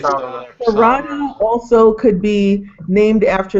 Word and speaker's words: Sarada: guess it's the Japanese, they don't pronounce the letter L or something. They pronounce it. It's like Sarada also could be named after Sarada Devi, wife of a spiritual counterpart to Ramakrishna.